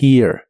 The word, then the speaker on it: here: La H de here se pronuncia como una J suave y la primera E como I. Around here, around here.